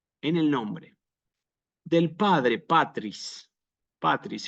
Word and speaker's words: patris: el nombre del Padre patris patris fíjense una palabra bisílaba yo a propósito pongo el acento en la a Aunque no es obligatorio